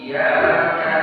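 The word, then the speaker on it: إياك: Iyyaka na'budu wa iyyaka nasta'in. Iyyaka na'budu wa iyyaka nasta'in. Di sini ada tasdidnya. Jangan polos bacanya. Iyyaka harus ada sedikit hentakan. Iyyaka. Iyyaka. Iyyaka. Iyyaka. Iyyaka. I-nya jelas ya kan?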